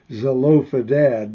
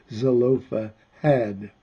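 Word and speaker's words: Zelophehad: I always want to call it Zofa dad, but it's Zofa had at least I that's the way I pronounce it.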